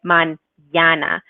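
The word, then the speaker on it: mañana: so instead of saying if we didn't have the tilde this probably get man yana manana that's what the tilda does the squiggly it tells us to add a ye sound onto that enemy so this is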